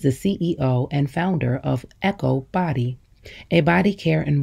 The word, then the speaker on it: EKOW: get what they need e-k-o-w is pronounced echo and means boy born